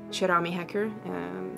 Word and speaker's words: Keramihacker: So if you have Instagram, you just go and look for Kerami Hacker, or Cherami Hacker, as they pronounce it in Swedish.